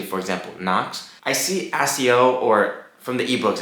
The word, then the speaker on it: accio: does it anyways so accio three syllables open two syllables if